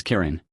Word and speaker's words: Kirin: hence the name kin the Japanese having no l pronounce this Kirin its appearance on the